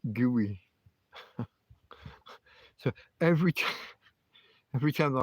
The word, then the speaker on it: Guy: They see Guy everywhere, and so they that's what they put on the paperwork when they do the birth certificate thing. But it's not how they pronounce it. They pronounce it gooey.